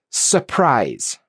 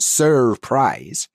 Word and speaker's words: surprise: Because the following sound is a a consonant sound, we don't pronounce the R. It's not surprise. Surprise. The R disappears.